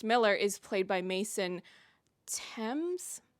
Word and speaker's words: Thames: Her love interest, Miller, is played by Mason Tames. I don't know if that's actually how he pronounces it, but that is how you say the name of the river in London, so I will stick with that for the time being.